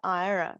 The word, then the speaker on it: Aira: i want to talk about a service called ira that is spelt a-i-r-a and if there are any ira